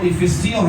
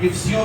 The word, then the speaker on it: افسیوں: ایک ہی آیت ہے, اس کا جو درست تلفظ ہے وہ افسیوں ہے, لیکن ہم افسیوں بھی اسے کہہ دیتے ہیں.